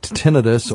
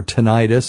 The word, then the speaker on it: tinnitus: Give it a try, because people with tinnitus or tinnitus, however you want to pronounce it, which is a ringing or sound